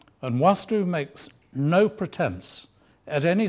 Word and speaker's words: Vastu: practical and you'll see I've put the double A in there which tells you how it's properly pronounced but you can call it V to it comes from a